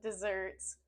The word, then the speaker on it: dessert: desert we say desert instead of the S sound we drop that and add a z sound the stress is on the second syllable zert zert desert desert instead of saying Dez we say du desert desert I love